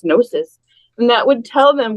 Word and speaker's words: gnosis: and then we decided gnosis with the silent G yes we happen to